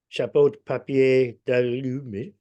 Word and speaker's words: papier d'aluminium: Chapeau de papier d'aluminium.